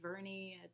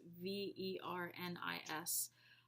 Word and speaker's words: Vernis: Is it Verni? I don't know. It's Vernis.